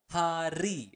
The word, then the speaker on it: hari: Setiap hari. Again, you want to pronounce the word R clearly.